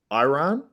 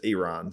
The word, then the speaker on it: Iran: the way I pronounced I was saying yeah Iran but it's Iran so a lot of